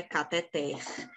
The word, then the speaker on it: cateter: vai dizer cateter pois a língua portuguesa diz que o correto é cateter é uma oxítona a sílaba tônica é o ter beleza se fosse uma